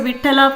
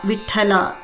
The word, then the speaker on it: Vittala: So Vittala pronunciation also will say Tha instead of Ta. You give a little huskiness in Tha. Vittala.